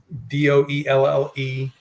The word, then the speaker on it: Doelle: Doelle, which Correct. is pronounced daily.